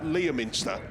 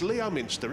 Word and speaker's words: Leominster: You know where we've just been to Leominster, right? They don't pronounce the O. Well, why put it in there then?